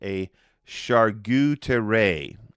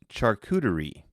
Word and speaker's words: charcuterie: like you pronounced it, a charcuterie. And you didn't know what that was. In all honesty, Taebyn, it's pronounced charcuterie.